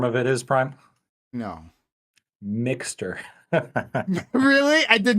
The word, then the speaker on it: Mx: that point but uh MX is a pre-existing thing um and it's pronounced mix um and I it's